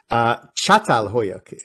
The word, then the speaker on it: Çatalhöyük: In fact, it's in Turkey, and I should correct myself because my Turkish friend said it's Çatalhöyük, although it's spelled C-A. It's got a sound of C-H, Çatalhöyük.